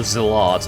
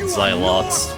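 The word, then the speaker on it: zealots: Of the zillots. Okay, that's how you pronounce that. Not zot.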